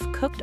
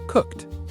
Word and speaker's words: cooked: Past, cooked. Pay attention to the pronunciation of cooked. It ends with a T sound. Cooked. That's a great pronunciation tip. Not cook-ed, but cooked.